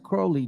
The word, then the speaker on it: Crowley: Cowley in his own writings he said it's pronounced cowy it runs with holy now pause for a second before we forget remember this is the book of thought now what the hell is Alisa Crowley doing with something like that if it has